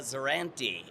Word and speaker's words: Zerante: So excited cuz I am with one of my besties in the industry, Erica Zerrantue.